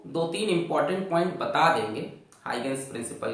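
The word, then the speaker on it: Huygens: इसको पढ़ा जाता है ओ और इसको पढ़ा जाता है, तो इसको हाइगेंस प्रिंसिपल बोलते हैं।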